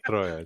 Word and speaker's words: troia: Troia, it's Troia. Just roll the R, that's important.